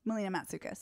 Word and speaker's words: Melina Matsoukas: Was Also, Melina Matsoukas. Is that how you say her name? Melina Matsoukas. Matsoukas Yeah.